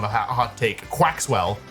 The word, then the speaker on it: Quaxwell: 981 is Quaxwell, one of the stupidest names. Surely people agree with me on that. Surely that's not a hot take. Quaxwell. It's like Maxwell, but Quax.